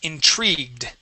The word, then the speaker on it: intrigued: The word is intrigued. Intrigue. Good, yes, so let's pronounce that G and then the D sound.